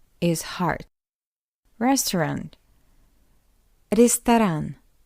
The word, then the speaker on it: Ресторан: Secondly, this ye is unstressed. That's why we pronounce it as E. Ресторан. What else? O is unstressed as well. That's why we pronounce it as A. Ресторан. And after the second R, we have A. That's why this R is hard.